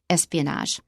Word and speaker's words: espionage: It has a very French sound to it with a je sound at the end, espionage.